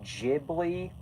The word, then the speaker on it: Ghibli: Which, by the way, I know that it's actually pronounced Ghibli, but I just think Ghibli sounds more natural.